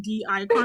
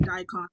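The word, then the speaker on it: Dicon: they're on like twitter it doesn't actually like put the space between the d and the icon i was like the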